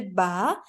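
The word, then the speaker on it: ب: It's not going to be be, because be is the pronunciation in our Urdu or Hindi language.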